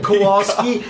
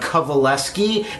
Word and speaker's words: Kowalski: for everyone else's benefit it's actually kovaleski and that's spelled the opposite of how it's said or even looked at or heard kovalevsky yeah so i want